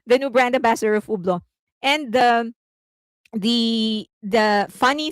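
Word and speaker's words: Hublot: They said that in French you're not supposed to pronounce the H and the T. So Ublo. Okay. So he's now the new brand ambassador of Ublo.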